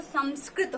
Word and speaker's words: संस्कृत: वाल्मीकि, इन्होंने इसको संस्कृत भाषा में लिखा है, संस्कृत, लेकिन इसका शुद्ध जो प्रोनाउंसिएशन है वो संस्कृत होता है, क्योंकि ये संस्कृत